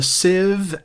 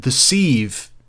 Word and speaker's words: sieve: about 10 minutes ago i would have said deceive and the sand because it's spelled s-i-e-v-e and for that many letters i think you deserve a longer word and sieve just seems more respectful longer than civ siv isn't a word see there's words and